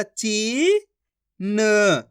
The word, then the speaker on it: चीन: किस तरीके से है चा में बड़ी ई की मात्रा ची न तो मिलके बन जाएगा चीन इसी तरीके से पढ़ना है आपको चीन ऐसे नहीं पढ़ाना चीन अगर आप चीन पढ़ दोगे तो छोटी ई की मात्रा का उच्चारण हो जाएगा दोस्तों आपको खींच के पढ़ना है तभी जाकर बड़ी ई की मात्रा का उच्चारण होएगा कैसे पढ़ेंगे एक बार